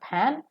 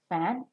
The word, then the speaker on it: fan: a labio dental sound the upper teeth and the lower lip should come closer to each other in the pronunciation of